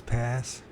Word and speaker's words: Passchendaele: I don't know how to pronounce it. It's Passchendaele.